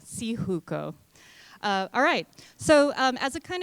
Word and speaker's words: Syjuco: public and then lastly that's the pronunciation of my last name so see hukou alright so as a